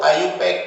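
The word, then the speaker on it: IUPAC: इसको आईयूपैक भी प्रोनाउंस किया जाता है।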